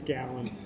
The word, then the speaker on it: Gallen: no, actually, it's Gallen.